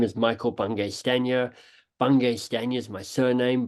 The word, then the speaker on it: Bungay Stanier: So I often go, look, my name is Bungay Stanier. It's not Bungay Stainer. It's not Banging Spaniel, which is a letter I once got.